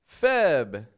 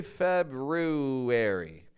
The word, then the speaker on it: February: There's an R in there, isn't there? Shouldn't there be? An R after the B. Guess what? I don't pronounce that R. For me, that's a silent R.